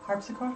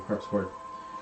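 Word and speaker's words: harpsichord: faint sounds of a um, forgot how to pronounce this. Uh, harps. Harps accord. Yeah, thank you. Harps chord.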